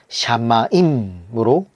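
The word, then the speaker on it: שמים: 여기에 천지는 당연히 뭐 하늘 천자와음 땅 지자를 말하고 있는데 천은 어 히브리어로 샤마임으로 어 발음하고 있는데 큰 하늘이라는 말이에요.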